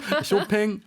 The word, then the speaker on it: 쇼팽: 예, 쇼팽 혹은 뭐 쇼팡이라고 발음하시는 분들도 계시죠. 네. 예, 쇼핑은 안 되지만 쇼팽, 쇼팡, 쇼핑 전염성이 네, 다 있으세요.